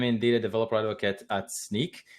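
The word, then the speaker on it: Snyk: a developer advocate at sneak er not a lot of people know how to pronounce that well so no worries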